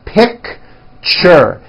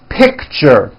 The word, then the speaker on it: picture: lunch box Richard picture that's a tricky one it's two syllables you pronounce it picture picture teacher fortune nature beach